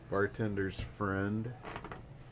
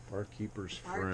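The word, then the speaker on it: Bar Keepers Friend: Barkeeper's friend. Barkeeper's friend. I've been saying it wrong all this time.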